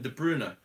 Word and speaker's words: De Bruyne: Kevin de Bruyne er I'm pretty sure is not de Bruyne er but everybody says de Bruyne her is actually Kevin de Bruna Dube lunar I thought